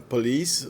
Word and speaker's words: police: Police, que é geralmente pronunciada police, não é police, acentuado na segunda sílaba.